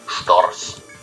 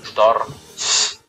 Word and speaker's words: Storch: The Stork, or Storch, or however that's pronounced, in German we call them Storch. That's 2 syllables. Storch. Like after the R and the CH, which is like a certain letter rule in German, it just cuts there. Again, Storch.